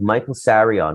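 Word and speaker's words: Michael Tsarion: by the name of michael sarion with the t but the t is silent and brilliant irish occult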